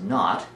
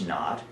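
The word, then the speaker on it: naught: kn that fine looking superscript little zero is pronounced not and represents the standard nature of this Delta H so Delta H knot is the standard enthalpy change for a reaction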